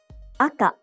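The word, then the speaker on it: 赤: Aka, red. Aka, aka, high and low.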